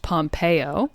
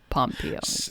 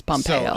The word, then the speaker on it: Pompeo: Also, his name is pronounced Pompeo. Oh, like we were talking off air about how it's not Poopeo, but it's also not Pompeo. It's Pompeo. So much like the Greek resort city of Pompeii.